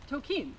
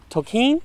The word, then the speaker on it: Tolkien: Tolkien. What? Tolkien. Tolkien. Tolkien. Tolkien? Tolkien. I've been saying Tolkien's name wrong my whole life.